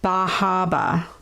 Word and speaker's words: Bar Harbor: hampshire we went to bajaba bar harbor baja that's how they say it there um well dusty